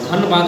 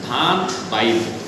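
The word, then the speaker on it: धनबाद: था धनवाद का बाय धान व धनवाद नहीं था धान बाइ उच्चारण ये होता था लेकिन आज वहा क्या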